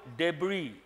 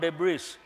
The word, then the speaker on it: debris: But write the meaning of the word debris. S is silent. It is not debris. Debris.